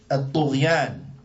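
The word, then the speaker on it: الطغيان: The Shaykh, he says, وَالْطُغْيَانِ الطُغْيَانِ. Right? What does this mean? And الطُغْيَانِ is spelled alif, lam, ta, ghain, ya, alif, noon.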